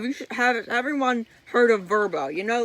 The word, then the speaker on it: Vrbo: that was for rent on verbo verbo that is how you say it right and my dad said oh look a VRBO and he says he refuses to say it right as verbo and it really annoys